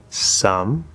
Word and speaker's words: some: First we start with the S, which isn't too hard. S. Then we go to, again, that upside down V, the not true schwa. Then we're gonna go to the M, some. The E is silent.